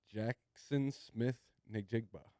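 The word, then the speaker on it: Jaxon Smith-Njigba: Someone else to pronounce this guy's name. Help me out. CV the G Jackson Smith Njigba.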